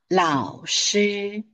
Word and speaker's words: 老师: Now, for the first syllable, we may regard it as the combination of the initial and the final. Le ao lao. But this one, shi. So, lao shi.